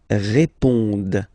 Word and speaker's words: répondent: Ils répondent. So same thing here, classic ending, ENT, but then you don't pronounce it. Okay?